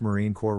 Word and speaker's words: Marine Corps: s in Illinois as a non-native speaker it's pronounced Marine Corps right unless they're dead in that case it